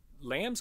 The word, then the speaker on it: lambs: Presta atenção que eles não pronunciam o B. Lambs can climb. O formato da boca fecha para fazer o B, mas não sai o som.